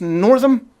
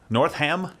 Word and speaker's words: Northam: governor Ralph is it is it pronounced Northam north ham no no and basically endorsing infanticide